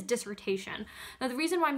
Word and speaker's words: dissertation: doing the dissertation so I'm going to use the French pronunciation but the word is dissertation now the reason why